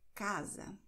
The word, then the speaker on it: casa: Und dann haben wir Sa. Sa ist eher geschlossen, deswegen Mund ein bisschen zu.